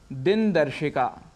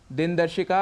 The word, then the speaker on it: दिनदर्शिका: तो वह है आकाशवाणी दिन दर्शिका दिनदर्शिका अर्थात कैलेंडर जिसका उच्चारण हम करते हैं दिन दर्शिका इसका शुद्ध उच्चारण है दिनदर्शिका और गणपति महोत्सव जो